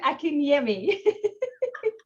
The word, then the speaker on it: Akinyemi: Akinyemi. You know, I was thinking, am I going to pronounce it correctly? And there you go. You can say it, can't you, Carolyn? Carolyn Akinyemi.